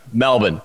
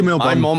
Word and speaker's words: Melbourne: But if you're from here, you pronounce it Melbourne.